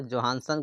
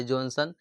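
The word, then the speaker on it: Johannsen: याद रखिए जोहानसन कहेंगे इसको। यह जॉनसन कहा गया। थोड़ा सा नाम इसको में चेंजिंग किया गया। उच्चारण में गड़बड़ी हुआ है और उसको टाइपिंग में गड़बड़ी कर दिया गया है।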